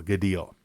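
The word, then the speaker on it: Gaidhel: the I'll mispronounce this gel G gel g a i d h e l gal so uh spirit says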